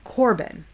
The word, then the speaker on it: Corban: That's what he's talking about here when he says Corban. I think I said carbon because I've seen it spelled with an A as well. So forgive my vacillation on that.